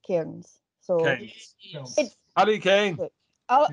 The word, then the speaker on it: Cairns: A lot of English people say Cairns. Yeah. But I'm Scottish, so it's Cairns.